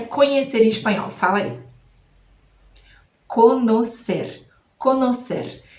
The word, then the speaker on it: conocer: Conocer. Conocer. Então a gente escreve com N, não vai ser com N, o som é com N mesmo. E ao invés do E, depois vai ser o O.